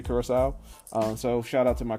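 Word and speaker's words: Curaçao: I want to apologize to one of our listeners that is in Curacao. That is how it's pronounced.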